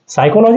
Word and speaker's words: psychology: सायकोलॉजी हा शब्द बघा, स्पेलिंग जरा लक्षात घ्या. सायकोलॉजी आधी पी येतो, नंतर मग SY पासून सुरू होते सायकोलॉजी. फक्त आधी तो पी लावायला लक्षात ठेवा. त्या पीचा उच्चार आम्ही करत नाही.